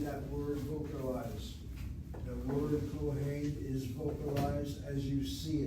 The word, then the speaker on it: Kohen: Cohen. And when it comes to the name of Cohen, you have the accent of that first syllable.